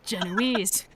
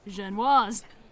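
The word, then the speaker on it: génoise: get an announcer voice they also always pronounce zhenwa's incorrectly saying genoise there's a couple episodes where they have actual french people on who pronounce it jean was godly my ongoing beef with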